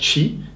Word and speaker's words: Qi: In Taoist philosophy, it is said that everything is “Qi” pronounced: ch’i and written “Qi”.